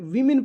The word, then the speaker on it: woman: यहाँ पे वीमेन पढ़ेंगे, इसको WOMAN रहेगा तो वुमन पढ़ेंगे, और WOMEN रहेगा तो वीमेन पढ़ेंगे। ये सही प्रोनाउंसिएशन है, समझ में आ गया?